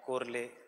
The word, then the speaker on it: Chorley: According to Chorley, Richard कोरले, चोरले, ऐसे चोरले क्योंकि स्पेलिंग याद रखना बहुत आसान है.